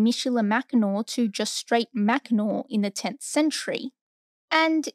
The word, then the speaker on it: Mackinac: was shortened from Michela mcanor to just straight macnor in the 10th century and it wasn't until